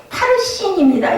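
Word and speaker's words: פרסין: 이 바르신이라는 말은 원어 발음으로 파르신입니다.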